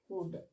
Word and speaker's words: could: इसे हम लोग आप लोग कुल्ड पढ़ते हैं, लेकिन इसका सही प्रोनाउंसिएशन होता है कुड, ओके।